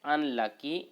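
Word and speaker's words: unlucky: फिर से sentence complete हो जाएगा, ही इज एन अनलकी मैन। ही इज एन अनलकी मैन। ठीक है, यू है लेकिन प्रोनाउंसिएशन हो रहा है ओ, अनलकी।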